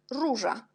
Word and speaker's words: róża: Et o avec l'accent, on prononce u jak róża.